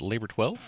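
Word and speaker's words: Labor XII: you get your music labor X II is how you write it out but you pronounce it labor 12 you have Trent sne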